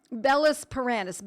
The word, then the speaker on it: Bellis perennis: Bellis paranis, Bellis, B-E-L-L-I-S, not belladonna, even though some people spell it B-E-L-L as an abbreviation.